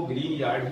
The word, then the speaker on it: Grignard: है और आप इसको ग्रीन यार्ड ही बोलें। आप बुक में भी इसको कंसल्ट कर सकते हैं, लिखा ग्रिग्नार्ड जाएगा बोला ग्रीन यार्ड जाएगा।